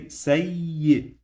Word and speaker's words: سيء: I pronounce this one 2 times. The first time it will be like I, and the second time it will be like Y. It's always like this when we have the shadda. Okay, so it's always like this when we have the shadda. We pronounce the Ya 2 times, or any letter.